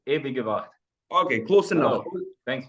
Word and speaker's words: Ewige Wacht: I'm going to try to pronounce it. Ewig Wacht. Is it close enough? Nearly, yes. Ewige Wacht.